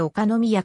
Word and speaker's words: 岡宮: 宮であるは岡宮と書いておかの宮と読むのはおかしいの